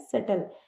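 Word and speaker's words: subtle: इस वर्ड में B silent होता है। तो इसे बोलते हैं सेटल।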